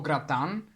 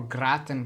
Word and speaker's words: gratin: you've ever had potatoes or gratan or a gratin potatoes as our American friends might pronounce it um it's kind of